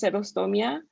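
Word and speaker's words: xerostomía: X, so X is like, it sounds like two different things. It's like an H sound and an S sound. So like serostomia is in Spanish is just serostomia.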